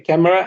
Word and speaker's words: camera: these two words okay camera and family yeah so be careful because the vowels are deleted I cannot say C you have to say camera I deleted the e or the vowel letter and family I didn't